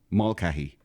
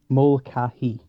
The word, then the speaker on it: Mulcahy: Mulcahy. You say it. Do me a favor. You say it. Teach people right. How do you say it? Mulcahy.